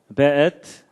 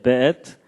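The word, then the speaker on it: וְאֵת: 그 다음에 앳, 하샤마임, 베엣. 요게 이제 W인데도 여기에 독일식 발음을 해서 베 이렇게 읽는다고 합니다. 예, 베엣, 하아렛.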